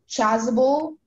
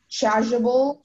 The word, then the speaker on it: chasuble: Okay, your word is chasuble, chasuble, or chasuble. All of those are valid pronunciations.